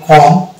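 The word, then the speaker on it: comb: এম বির পাশাপাশি থাকে যেমন কম এখানে আমি কম এই ব টা এই বটা সরেন থাকে এটা উচ্চারণ থাকবে কম অনুরূপভাবে টম বম ক্লিন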